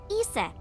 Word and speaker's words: Iset: In ancient Egyptian, it's pronounced closer to Iset or Aset.